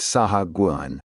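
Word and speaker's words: sahuagin: Thankfully, Liarchch was close to me and informed us it is pronounced Saha Guuan.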